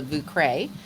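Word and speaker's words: Vieux Carré: of my splurge drink, and it's called the Vucre. Ooh, yeah. But it's spelled V as in Via, IEUX and then CARRE.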